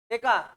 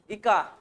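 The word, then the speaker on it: eka: sorry কে একা বোরণ একা বা একা ইকা যেভাবে প্রোনাউন্স করো একা বা ইকা ইকাণ যেটা হচ্ছে স্ক্যান্ডিয়াম ইকা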